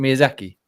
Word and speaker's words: Miyazaki: I can't pronounce his name. Is it Miyazaki?